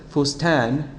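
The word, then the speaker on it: فستان: If this sukun were not here, the word could be pronounced a variety of ways. It could be pronounced fusatan, fusutan, or fusitan. But of course, since the word is fustan, and there's no short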